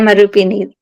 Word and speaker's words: Rupini: Rupini. Am I pronouncing that right? Yes. Hear Rupini.